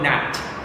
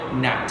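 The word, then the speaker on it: gnat: black fly or buffalo nat n18 like silent letter g buffalo nat so we named appearance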